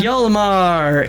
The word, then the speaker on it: Hjalmar: Hjalmar, Hjalm, like Mike, ARR.